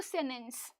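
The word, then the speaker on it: sentence: लिखते हो सेंटेंस लेकिन बोलते हो सेनेंस, राइट, ये टी साइलेंट होता है।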